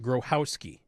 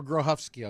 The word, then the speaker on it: Grochowski: I never thought I'd hear anyone with the same last name on the radio, although we pronounce it Grochowski." Or Grohovsky, it's also been pronounced.